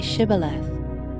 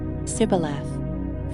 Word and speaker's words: shibboleth: they said to him then say shibboleth and he said sybileth for he could not pronounce it right then they seized him